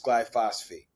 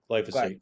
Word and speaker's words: glyphosate: to this my to this G to this glyphosphate glyphosate from glyphosate I got you my man I another syllable in that piece of glass um so